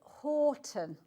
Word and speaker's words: Houghton: We pronounce it Horton. Horton. Yeah, because when you look at the spelling, Houghton, we've got, I call it Cofton up the road, which is C-O-U-G-H.